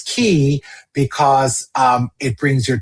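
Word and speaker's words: quay: And it's key because um it brings your troubles to C. Key rhymes with C.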